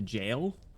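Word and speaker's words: gaol: we love w g is pronounced identically to jail Gail this will be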